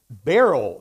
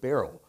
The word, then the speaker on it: Beryl: We just had Hurricane Beryl, they pronounced it, although it looked like Burl. Did you see that, Greg? But they pronounced it Beryl.